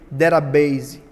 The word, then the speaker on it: database: E a palavra para banco de dados é derabase, que se escreve database. É, eu posso colocar maiúsculo, posso colocar minúsculo, vai funcionar de qualquer jeito. Perceba data base que se lê derabase.